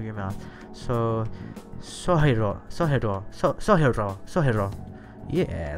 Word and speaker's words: Sojiro: Jean says, as for Sojiro, that's pronounced Sojiro. R's are a mite weird in Japanese. You make the sound by flicking the tip of your tongue off the point when your teeth meet the roof of your mouth.